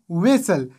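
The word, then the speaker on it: whistle: بل مثال ده ویسل دلته له ټي نه مخکې اس راغلی په دې صورت کې هم ټي نه ده تلفظ شوی ویسل.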